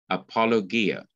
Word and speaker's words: apologia: according to the bible biblical means according to the bible or pertaining to the bible apologetics is from the greek word apologia that's a greek pronunciation apologia which means answer or defense this is the greek word used in acts chapter 22 verse 1.